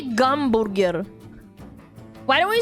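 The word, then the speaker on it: гамбургер: and I saw it and I was like gamburger. Why in Russian do they say h gamburger and not hamburger?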